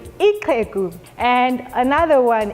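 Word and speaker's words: ixhegu: our language we have the click sound for an example ikeku which means an old man spelled i-x-h-e-g-u ikeku and another one ikoko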